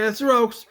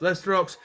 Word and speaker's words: Lester: stres construct worker and you have to say it that way you can't just say leester o or he'll get mad at you it's Lester o construction worker that's how you say it so Lester o construction